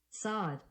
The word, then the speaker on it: Facade: Facade. De novo. Facade. Facade. Cuja tradução é? Fachada. Muito bem. Então, padrão de projeto Facade, cuja tradução é fachada.